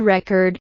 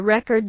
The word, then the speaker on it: record: For example, the word record can be a noun or verb, depending on where you stress it. When you stress the first syllable, it's a noun: I bought a record yesterday. When you stress the second syllable, it's a verb: I need to record this video.